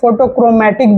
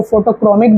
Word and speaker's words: photochromic: और इसमें सिर्फ यही एक खासियत नहीं है, ये फोटोक्रोमैटिक भी है। कुछ लोग इसको फोटोक्रोमिक भी बोलते हैं, मतलब दोनों तरह से प्रोनाउंस किया जाता है, फोटोक्रोमैटिक, फोटोक्रोमिक।